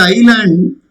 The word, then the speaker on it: island: Just like island, which is S is silent.